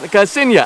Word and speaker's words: Casinia: So that said, the correct pronunciation, Casinia. I think that's what I said, Casinia.